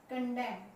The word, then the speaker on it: condemn: जी हाँ, इन सभी वर्ड में एक चीज आपको नजर आई है कि जो एन है वो साइलेंट है। तो यहाँ पर एक पॉइंट हमारा जो साइलेंट लेटर का टॉपिक है वो क्लियर होता है कि एम के बाद अगर एन आता है तो वो नहीं बोला जाएगा, वो साइलेंट रहेगा।